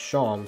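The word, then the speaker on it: Seam: he says is that my name is pronounced sham so i'm sorry about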